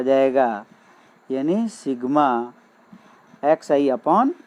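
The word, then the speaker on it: sigma: है कि यहाँ पे सिग्मा is letter A Greek alphabet, it is pronounced as सिग्मा।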